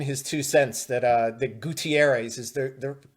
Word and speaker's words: Gutierrez: remember this guy's career at all but Jackie gu Terez I I do see that he did play for the Red Sox before his stint Oh Gutierrez Oh Spanish translator producer Matt throwing in his